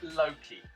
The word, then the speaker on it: Loki: I pronounce it Loki, as in genius Loki, which is the Latin phrase which means the spirit of the place, which is kind of me being a smart-ass writer.